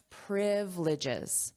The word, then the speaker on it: privileges: Notice the pronunciation here, privileges. So, we have the syllable stress on the first syllable. Repeat after me, privileges. privileges This is the phonetic